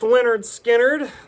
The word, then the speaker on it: Lynyrd Skynyrd: Pronounced Lynyrd Skynyrd, the first debut album from Lynyrd Skynyrd.